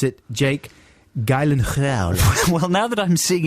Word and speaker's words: Jake Gyllenhaal: a silence here's the actual pronunciation according to pronunciation book on youtube jake gyllenhaal yes jake gyllenhaal so i was nearly there nearly gyllenhaal gyllenhaal